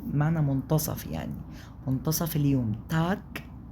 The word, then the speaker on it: Tag: تاك تاك تاك مش تاج لا تاك.